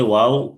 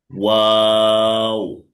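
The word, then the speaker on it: و: ওয়াও মাখরাজ হচ্ছে দুই ঠোঁট গোল করতে হবে, একটু মাঝখানে ফাঁকা রাখতে হবে। ওয়াও।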